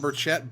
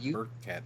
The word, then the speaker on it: Burchett: god including this autumn Burchett back to back okay listen it's Burkett sorry fix that yeah the CH is silent and also you put a K in there yeah so autumn is